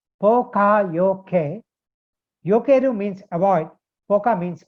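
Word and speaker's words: Poka-yoke: It's pronounced Pokayoke.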